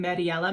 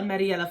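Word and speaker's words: Mirella: um i think her i think you pronounce her first name mariella mariella freni she is also a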